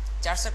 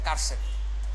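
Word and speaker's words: charset: চার সেট না, এটা কার সেট, যেহেতু এটা ফুল ফর্ম হচ্ছে ক্যারেক্টার সেট, সো উচ্চারণটা হবে কি কার সেট, বাট যদি ক্যারেক্টার সেট না হয় অন্য কিছু হতো তাহলে চার সেটই বলতে পারতাম, সমস্যা নাই।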